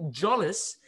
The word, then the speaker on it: Jolles: it's his name uh his name is danny jolis he's the first guy who's ever pronounced my name right what's up danny how